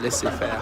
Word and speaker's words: laissez-faire: Why would I say laissez-faire? That's like the American way of saying laissez-faire. That's how it's said.